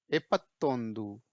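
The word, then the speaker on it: ಎಪ್ಪತ್ತೊಂದು: ई को जैसे मैंने बोला इस समय ए जैसे पढ़ेंगे, ठीक है, एपत्तोंदू, ठीक है, स्पेलिंग फॉलो करिए।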